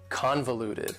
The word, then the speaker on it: convoluted: The final adjective that I have for you is convoluted. Convoluted also has 4 syllables, and the stress is on the first syllable. Convoluted. That second syllable again has that schwa sound, that reduced vowel sound.